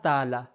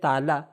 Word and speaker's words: تعالیٰ: لیے کہتے ہیں اللہ تعالی۔ ہم اردو میں کہتے ہیں تعالی، لیکن جو صحیح تلفظ ہے وہ ہے تعالی۔ تعالی کس فیملی سے ہے؟